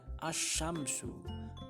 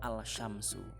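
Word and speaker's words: الشمس: Kemudian yang kedelapan, al bertemu dengan shin, contohnya ini dibaca asyamsu, asyamsu, bukan al-syamsu.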